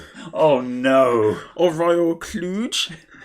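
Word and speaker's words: Kludge: cheap chinese keyboards that a brand called royal clutch oh no or royal cluj it's actually pronounced kluge it's actually bouquet but yes apparently they did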